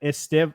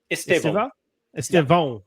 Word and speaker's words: Estevão: But I saw that Estevão, is that how you say it? Estevão.